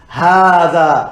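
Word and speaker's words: هٰذَا: And finally, hadha is pronounced hadha, as if there's an alif after the ha, but it's written without the ha. Okay? Written without the alif, sorry.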